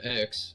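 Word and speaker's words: Xue: you say your name again sir sorry uh x but it's uh i spelled like x u e so it's kind of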